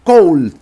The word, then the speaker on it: Colle: jugada en Niza en 1930 cool de sistema coal Aunque algunos lo pronuncian coche o coche Aunque viendo por ahí